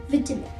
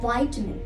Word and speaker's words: vitamin: this word vitamin yes in the uk oxen they call it as vitamin but in the usf simply call it as vitamin let's move to the